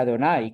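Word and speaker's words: Adonai: y del capítulo 2 eh se pronuncia Adonay, que son las cuatro consonantes para el nombre de Dios.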